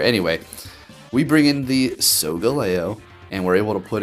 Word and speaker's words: Solgaleo: Segaglio is going to be taking a lot of damage. Am I saying it wrong again? Solgaleo.